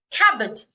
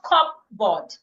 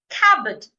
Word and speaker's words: cupboard: Cabbat. Not cupboard. Cabbat. The P is silent.